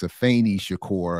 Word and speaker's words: Afeni Shakur: I was leaning too much on the E and got a tech correction. It's Afeni Shakur, and I apologize for that.